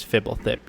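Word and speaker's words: Fblthp: pronounce it i'm like it's fibble thick you idiot yeah exactly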